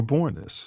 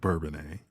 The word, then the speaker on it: Bourbonnais: it two years down in the University but born this you know it's not Bourbonnais that's that's the way the the pink people pronounced it so then we took suit took